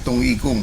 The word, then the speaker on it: Dong Yi Gong: Nah, ini dengan gerakan senam tung ikung ya, dibacanya tung ikung ya, atau senam gita gerakan isyarat tangan.